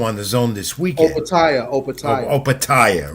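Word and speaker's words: Opetaia: I want Joe Apatia is cruiserweight title defense also on the zone this weekend. Opatia, right? Opatia, yeah, he's and in my notes here, I made sure to put the pronunciation key right about his name because I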